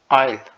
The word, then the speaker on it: aisle: Like should I book the aisle? Here S is silent.